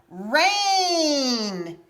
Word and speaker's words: rain: are the two vowels so the first one gets to say a and the other one is silent so put this letter